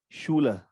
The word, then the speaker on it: Schule: Whenever S is coming before CH, we always pronounce CH as sh. Example, Schule, Schade, sh, Schule, Schade, Schule, Schade, Schule, Schade, sh, sh, h.